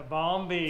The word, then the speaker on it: Bombi: which means we're back on the Bombi the balmy did I say it right yeah you got